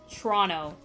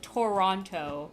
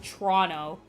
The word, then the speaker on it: Toronto: That's not how anybody here pronounces it, by the way. Not even in the slightest. It's Toronto. That's how you pronounce it. You guys got a lesson from a true Canadian here. It's not Toronto. Don't pronounce every letter. It's just Toronto. It's just Toronto. Like that.